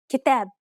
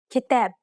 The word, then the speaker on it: كتاب: كتاب كتاب سلام سلام حدود حدود مراكز مراكز مفاتيح مفاتيح مسؤولين مسؤولين. See how the long syllable that is closest to the end of each word was stressed?